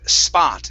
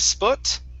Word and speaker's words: spot: Next up, the word spot. Instead of sput, it's spa, spot, with an ah.